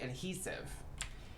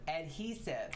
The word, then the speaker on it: adhesive: I keep the chess pieces because when you scrap them, they give you adhesive. And that is how you say that word, adhesive, not adhesive, as some people like to call it.